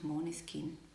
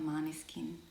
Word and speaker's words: Måneskin: It's actually pronounced Måneskin. It's not Måneskin, but everyone basically, like most people call them Måneskin.